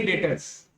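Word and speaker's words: debtors: लिखेंगे डेप्टर्स लेकिन पढ़ेंगे क्या? डेटर्स। ठीक है, डी साइलेंट रहेगा।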